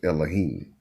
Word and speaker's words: Elohim: of people don't realize the word god is is singular or plural in hebrew is pronounced elohim and and and or